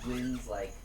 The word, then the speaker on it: Wynn: Her real name's Wynn. How do you spell it? W-Y-N-N. Like Lynn, but with a W.